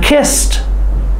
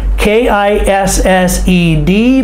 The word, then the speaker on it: kissed: kisses her mom Pam kissed her mom k i SS e d but the D sounds like T Pam kissed her mom